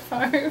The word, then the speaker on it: Favre: And his last name rhymes with Smarv. Brett Favre.